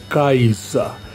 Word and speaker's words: Kaiser: provaremos hoje a Kaiser Kaiser que em alemão se pronuncia kaisa cuja tradução para o